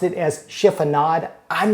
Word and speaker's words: chiffonade: If you've ever read a recipe that's called for a chiffonade of herbs and wondered what the heck does that mean, well, after this video, you will know.